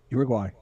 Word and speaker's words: Uruguay: I would see unless I was from Uruguay, I would never know how to pronounce it. I would mispronounce it, which is mispronouncing pronounce. Like I'd get the ura yura, but the gu if if if Drax